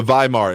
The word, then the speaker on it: Weimar: can't remember the name of the Republican the Weimar it's spelled with a W but pronounced by Mark